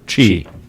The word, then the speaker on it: Qi: basically if you have a phone that supports key which is a relatively small number chi chi okay I knew was something like that